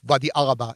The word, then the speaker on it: Wadi Araba: What you see in the Israeli side of the Arava versus what you see in the eastern side of Wadi Araba, as the Jordanian pronounce it.